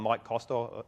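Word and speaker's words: Maik Koster: by a guy called Mike Koster. His name is spelled M-A-I-K, Koster, K-O-S-T-E-R.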